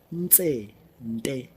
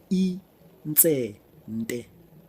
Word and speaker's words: Intsente: Pronouncing Intsente is very easy. Intsente. Again. Intsente.